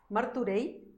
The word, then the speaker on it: Martorell: Está pasando por Martorell, en realidad. ¿Martorell? Claro, ¿Ah, sí? así se pronuncia.